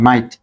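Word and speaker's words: might: দেখো যেমন মাইট এম আই জি এইচ টি মাইট এখানে সবশেষে কি আছে জি এইচ টি জি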